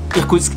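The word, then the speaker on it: Иркутск: Ce qui ressemble à un N a l'envers, c'est un I. Le P, on l'a vu la dernière fois, c'est comme un R. Ensuite le K, c'est comme un K. Y se prononce OU. T comme un T. C comme un S. K comme un K. Ce qui nous donne Irkoutsk.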